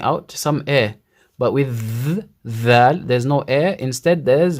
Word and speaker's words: ذال: Dhal. ذال This is the sound, yeah? Dhal. ذال Dhal. ذال Dhal. ذال Dhal. ذال. And dhal comes from the same articulation point as tha.